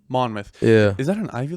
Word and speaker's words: Monmouth: went to is it mon how did you pronounce it Monmouth Monmouth yeah is that an Ivy League school no